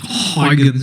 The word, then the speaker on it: Huygens: On the other hand, a Dutch physicist named Christian Huygens, and that's not how you pronounce his name. Turns out that his name is pronounced somewhat like Huygens or something like that.